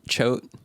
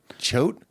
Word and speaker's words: Choate: It sounds like a kind of like a prickly dick or something. Like a choate. A chode, but it's good. It's not prickly. It's something. It's not a chode.